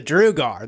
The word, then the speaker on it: Druga: know people are saying druga drug but you know Ave the guys have made this they're the ones that said hey rip it's called the drew guard that's how it's pronounced dr UGA our so i'm santa drew